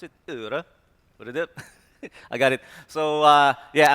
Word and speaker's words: Øredev: This is how you pronounce it. Øredev.